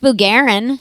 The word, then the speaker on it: Bugarin: that's sh way yeah uh this is bugarin hi guys and I I say your name